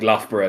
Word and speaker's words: Loughborough: outside of London say you go from like Loughborough to leicestershire um by the way because that's how we pronounced that and they laughed at me for